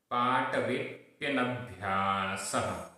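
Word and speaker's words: पाटवेऽप्यनभ्यासः: पाटवेप्यनभ्यासः, पाटवेप्य आधा पा और या, और उसके पहले अवग्रह का चिन्ह लगा हुआ है। पाटवेप्य, अवग्रह का उच्चारण नहीं होता है। पाटवेप्य नभ्यासः, नभ्यासः।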